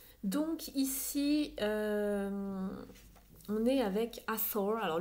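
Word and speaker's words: Hathor: ici on est avec Asor alors le vrai nom c'est asol les Français prononcent le thé le TH celui comme ça en Anglais les Français le prononcent à tort c'est souvent cette déesse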